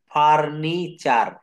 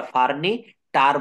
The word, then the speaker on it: furniture: পরে একটা দেখি ফার্নিচার, FURNITURE, এটা কখনো আমরা ফার্নি টার বলি না, এটা হবে ফার্নি চার, অর্থাৎ আসবাবপত্র, ফার্নি চার।